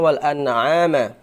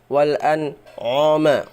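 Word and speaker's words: وَالْأَنْعَامَ: Wal anoma wal anoma harusnya wal an'ama bukan wal anoma. Q itu menebalkan ain. Harusnya dia membaca wal an'ama. Dia sifatnya ain itu tipis.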